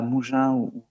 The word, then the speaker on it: Mougins: J'espère qu'on prononce comme ça. C'est Mougins, c'est ça? Tout à fait. Mougins, Ouais.